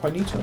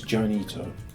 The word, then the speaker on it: Juanito: the tunnel system that Juanito made. So thanks, Juanito. Your name has a J in it. I want to pronounce it as Janito. And that's me being Anglo, so there we have it.